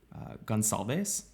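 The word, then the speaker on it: Gonçalves: is 21 year old Kaylee uh guncalbase but I've heard I've heard other people pronounce it gonsalves she's also an Idaho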